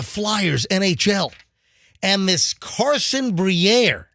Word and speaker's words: Briere: And this Carson Briere, Every time you say his name, I think of it. It's like a fancy cheese. oh yeah, Yeah, it does sound like like like Gruyere, Yeah.